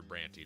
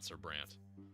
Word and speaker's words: Brante: suffering of sbranti I I am convinced now that it is pronounced sir brany not sbrand and I can't be